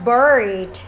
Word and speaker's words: bird: Chúng ta đọc này, bird có âm er hay còn đọc là r. Âm r cong lưỡi vào và đồng thời cái miệng của chúng ta khom lại đằng trước một xíu.